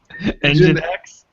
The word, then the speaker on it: nginx: Engine X.